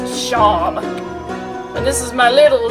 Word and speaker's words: Seam: It's pronounced Shawm.